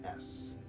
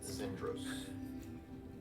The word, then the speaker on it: Xendros: Like with a Z? Yep, no, Xendros. Zindros. Or at least that's how I pronounce Might as it.